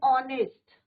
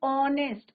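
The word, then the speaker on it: honest: क्या बोलेंगे बच्चों, एन आर, एन ऑनेस्ट। यहाँ पे भी क्या है बच्चों आपका, एच is your silent, sound किसका आ रहा है, ऑनेस्ट, ओ का आ रहा है, और ओ इज योर वोबल।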